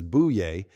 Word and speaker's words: Boyer: The neighbors of my grandmother, the Boyers, whose surname is pronounced as buouay, had a small family that was also expanding, reflecting the vibrant life of a close-knit community.